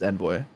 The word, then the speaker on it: Envoy: But I mean, the American way to pronounce it is Envoy.